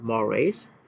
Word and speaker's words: mores: Easy to read this word is we pronounce this mores.